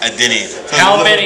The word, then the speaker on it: Adeniyi: So it's pronounced Adeniyi.